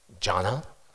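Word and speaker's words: Jhāna: Dhyana, Pali, is pronounced jhana, simply put, meditations.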